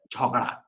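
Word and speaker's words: झगड़ा: has been replaced by Jhagada from Hindi, and it is pronounced as Jhogada.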